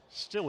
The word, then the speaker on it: Stille: Actually, correction, I'll say it's Isaac Stille. Stille is how you pronounce that.